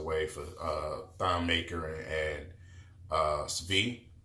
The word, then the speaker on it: Svi: We traded Stanley Johnson away for Thon Maker and Svi. That's how you say his name. You got to say it kind of quick.